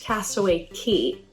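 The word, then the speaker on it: Castaway Cay: K or Castaway key it is kind of spelled Castaway K but I've done my research and from everything I can see it's pronounced Castaway key and you can get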